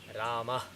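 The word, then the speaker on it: रामः: So, the correct pronunciation is Rama. Rama. It's kind of like Rama but not explicit. It's basically a subtle pronunciation of So it is Rama.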